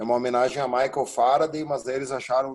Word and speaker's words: farad: F maiúsculo quer dizer Farad. O D é mudo, tá? É uma homenagem a Michael Faraday, mas eles acharam o nome muito comprido.